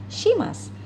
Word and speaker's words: します: untuk Mas melainkan bentuk Simas ya atau mereka kira si mas ya ini cara bacanya simas Hai Oke kita lanjutkan